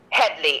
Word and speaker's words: Headley: Headley. Head, like the body, head. Headley, Headley.